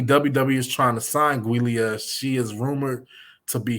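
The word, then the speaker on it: Giulia: told me about her I'm going to try to say her name guia because I've been calling her Julia the whole time so I'm say guia I know she's uh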